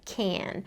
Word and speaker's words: can: However, in fast speech, we often reduce certain words to pronounce them with a different vowel sound.